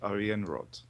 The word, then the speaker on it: Ariianrhod: Brian and yes I'm playing as the great Aryan rod oh you even pronounce it better than I do and on